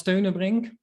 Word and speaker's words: Steunebrink: So yeah, my name is Steunebrink, pronounced the Dutch way.